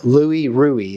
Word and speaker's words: Louis Ruhe: him so you'll watch for that later but Louie ruie is how they pronounce his name and that's that's it that's